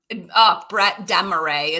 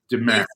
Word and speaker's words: Brett Demarais: So Brett Demarais is for what it's worth, I thought it was Demarais. Don't say it wrong.